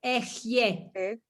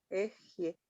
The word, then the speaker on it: Ehyeh: Pero escucha cómo se pronuncia. Como si fuera E-J-Y. Ehyeh. Ehyeh, ok. Así se pronuncia, Y ¿no?